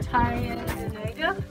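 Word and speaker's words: Tyendinaga: Karen, pronounce that cave. What's it called? Okay, oh, here. The news, the newsletter. Tyandinega.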